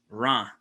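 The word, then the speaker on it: Reims: you would plug in ra into your maps so that's spelled r-e-i-m-s and they would pronounce in the region or ra kind of just uh it's one big it's one big vowel almost and it's at 49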